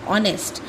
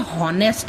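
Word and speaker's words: honest: ऑनेस्ट अगर मैं इसको फनेटिक्स के हिसाब से पढूं तो यह हॉनेस्ट हो गया। लेकिन यहां पर एच जो है वो साइलेंट है।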